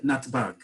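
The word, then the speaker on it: נתב״ג: Okay, so all together we pronounce it as one word, natbag.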